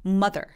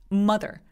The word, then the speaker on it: mother: 바짝 바닥에 누워 있어요 근데 엄마의 마더는 마더가 아니에요 여러분 마더가 아니고요 발음 결혼은 이렇게 뾰족한 삿갓처럼 생겼어요 근데 걔가 어떤 발음이 나냐면 되게 뾰족한 소리가나요 mother mother 그래서 마더가 아니라 mother mother 굉장히 부족해요 그래서 다른 사람들